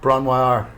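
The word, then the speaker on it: Bron-Yr-Aur: And so Jimmy Page and Robert Plant, they rent a cottage in Wales, Bronwar. Bronwar, yeah. Bronwar. Bronwar. Okay. That's the official pronunciation, kids.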